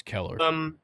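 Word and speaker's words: Kelleher: Oh, it's Keller. Yeah, Keller. Is that Keller? Yeah, I've heard them say it before. Interesting spelling of Keller, but hey, go off.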